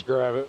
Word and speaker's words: Gravit: Gavin, is it Gravit or Gravit? Double G, you got a copy? It's Gravit.